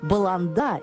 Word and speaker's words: Баланда: Нижняя баланда название этой деревни нужно произносить с ударением на последний слог баланда или поланда в переводе